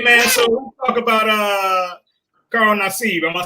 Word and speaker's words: Carl Nassib: Hey man, so let's talk about Carl Nassib. Am I saying that right? Carl Nassib. Am I saying that? Yeah, Carl Nassib. I think that's how you pronounce it.